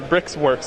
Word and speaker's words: briXwerX: bricks work brickworks which uh is your company brix works okay so that's how you pronounce it sorry i couldn't say it for